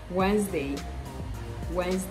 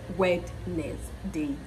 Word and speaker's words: Wednesday: day of the week Wednesday not wet Nails day you want to pronounce every syllable no Wednesday Wednesday I'd